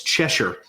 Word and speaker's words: Cheshier: Go to Amazon and it's Cheshure. Yep. All right. All right. I pronounced it right.